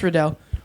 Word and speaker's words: Riddell: Even though I corrected him multiple times, he would say Liam Riddell, and so a bunch of people would always be like, "Oh, Liam." I was like, "Oh, it's Riddell."